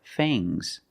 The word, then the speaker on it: fangs: teeth are called fangs use a long a plus the nasal sound and a soft G fangs fangs and the S is making a zebra sound Z but it's soft fangs fangs the snake